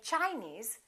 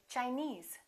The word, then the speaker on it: Chinese: suffix for example chinese we don't say chinese we say chinese japanese portuguese all right